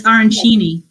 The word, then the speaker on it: arancini: So tell me, how do you really pronounce what the rice balls are? It's arancini? It's arancini.